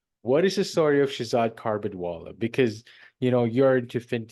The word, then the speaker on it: Shahzad: as it gets for the first time it's pronounced Shazad carbid wallala carbid wallala almost got there what is the story of Shazad carbid Walla because you know you're into FST